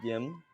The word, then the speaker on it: Gim: And I was corrected just a few short days ago calling the uh Uni Kim team that GIM is pronounced the same way as Kim in Korean.